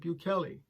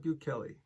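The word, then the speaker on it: Bukele: bills to get started with the process president buchelli then confirmed this via twitter for the rest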